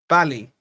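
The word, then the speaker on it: Bally's: Kind of pronounce it how you pronounce happy. So Bally.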